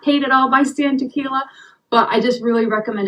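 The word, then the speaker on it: Tekiela: to recommend those books the author is Stan tequila it's spelled t e k i e l a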